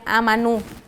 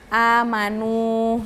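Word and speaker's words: آمنوا: kalau kayak gini kan cara bacanya bukan yang amanu nggak kan Karena ada wau di sukun jadi dia panjang kan amanu Nah karena dia ini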